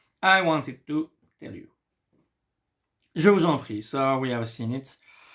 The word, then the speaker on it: je vous en prie: I say je vous en prie. Why? Because here, it ends with S, and here it starts with the letter I.